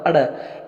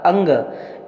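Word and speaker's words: ङ: क ख ग घ अड़। ये अड़ नहीं होता, यह क ख ग घ अंग, इसका उच्चारण अंग बनता है। अड़ हम त्रुटि से बोलते हैं।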